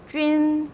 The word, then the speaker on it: jun: 자, 원래는 이렇게 써야 하지만 J랑 결합했기 때문에 땡땡을 탈락해서 JUN이라고만 적으시면 돼요. 쥔이라고 발음하시면 되겠죠. 쥔.